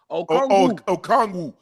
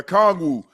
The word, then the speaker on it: Okongwu: Dyson Daniels, I can't even pronounce this guy's last name. Don't get him right. Don't get him wrong. Okongwu. Yeah. Okongwu.